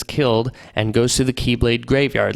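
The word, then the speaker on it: χ-blade: call the X-Blade, or Keyblade spelled like X-Blade. It's pronounced Keyblade, but spelled X-Blade, because spelling.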